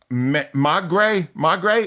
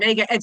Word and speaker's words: Maigret: You also don't want to miss Magre, Rhea, what's it Maigret, called? Maigret. Let me spell it for you.